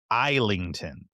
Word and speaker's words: Islington: in fact is Islington, no S, like Oh, an isle, ISL, uh, okay.